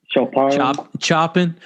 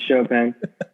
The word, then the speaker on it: Chopin: Chopping for you. Chopping up dead bodies. For you fucking you deadbeats out there. Right. How do you spell it? Chopping, bro. Chopping. It's chopping. Pronounce Chopin.